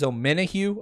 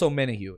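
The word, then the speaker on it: Omenihu: bat but and again the way you pronounce his name is ominohu i see my man doug asking that uh in the chat it's on minahu charles o'mena hugh and he's a great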